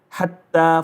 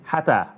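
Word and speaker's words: حَتَّىٰ: So you have over here, hatta, for example. This is ha, this is ta, supposed to say hata.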